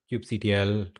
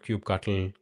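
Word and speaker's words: kubectl: this demo pretty straightforward I'm sure you have Cube CTL Cube cuttle however you want to pronounce it on your system uh you need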